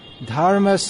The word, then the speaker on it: dharma: what just one point it should be pronounced not but as one flowing sound dharma stop stop stop stop